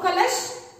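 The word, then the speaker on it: कलश: In the case of three letter words, the third letter we will pronounce half only. That's why I will change this sha to sh. Sir. So the letter sha, half pronunciation means sh.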